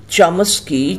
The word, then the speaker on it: চমস্কি: কিন্তু নম চমস্কি দন্তে নয়কার অন্তস্থ অয়াকার ময়াম কিন্তু প্রকৃত উচ্চারণ হবে নম চমস্কি চম দন্তে সয়কয় হসই প্রথম জানান যে মানুষের